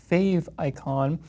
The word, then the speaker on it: favicon: a second though basically a favicon or sometimes pronounced fave icon is short for favorite